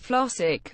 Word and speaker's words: Flossick: The words Flossick and magic accented on the second syllable.